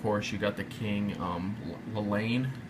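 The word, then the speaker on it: Llane: And then, of course, you got the King, Lelaine. How you say it? Double L. Right, double L. Lelaine is.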